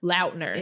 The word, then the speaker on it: Lautner: He came out and said that everybody's been pronouncing his name wrong this entire time, and he's never corrected anyone. How do you pronounce it? Lautner.